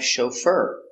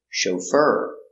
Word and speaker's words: chauffeur: example he is a chauffeur soft sound O show fur fur the accent is on the second syllable chauffeur he is a chauffeur